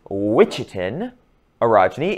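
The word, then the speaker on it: Ouachita orogeny: The Ouichitin orogeny, and that is how you pronounced it. I know it's not how it looks, but it's Ouichitin orogeny, is an Appalachian orogeny.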